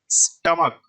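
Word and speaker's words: stomach: उसी तरह सेकंड समझिए, स्टमक। स्टमक के लास्ट में सी एच है और इस सी एच का उच्चारण क निकल रहा है।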